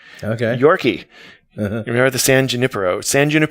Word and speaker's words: San Junipero: That's how they pronounce it in the show. But me being a Californian, I have to say San Junipero because Nice. Got to put the emphasis on the right syllable.